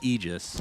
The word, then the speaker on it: Aegis: that's really important center the pronunciation of ages it's actually aegis right right like literally a definition you can look it up but icefrog messaged somebody at bts and said i don't want it pronounced that way so if that's i'm